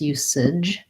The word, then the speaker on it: usage: And then our AGE just says the ij sound. So an I and a j sound. You, and I'll write it like this, usage or sig. We don't usually use J at the ends of words, but J is the letter we use at the start of words for the j sound, usage.